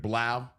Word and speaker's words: Blau: uh getting David Blau, like he said, it rhymes with plow because I I messed